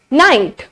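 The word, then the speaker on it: knight: किससे पहले होता है अगर के एन से पहले हो तो के हमेशा क्या होगा साइलेंट होगा के अगर एन से पहले हो तो के हमारे पास होगा silent for example in द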